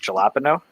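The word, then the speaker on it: jalapeño: oh and sliced sliced jalapeno pickles yeah I'm sure you pronounced that incorrectly it's pronounced jalapeno um yes I'm using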